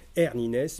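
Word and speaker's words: Arne Næss: tableau et qui s'appelle hernie naissent alors les norvégiens ont appris comment ça se prononce donc là je suis je pas peu fiers de proposer comme sa hernie nes mais ça s'écrit arn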